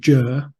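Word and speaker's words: Győr: Western Hungary just near the Austrian border called jur yeah I wondered how to pronounce that sorry written down I had no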